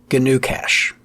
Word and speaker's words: GnuCash: There's also GNU Cache. Now that's spelled GNUCASH. GNU Cache.